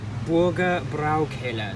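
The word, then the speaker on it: Bürgerbräukeller: worthy of being remembered Burger brow killer that's how you pronounce it I keep getting it wrong get a better shot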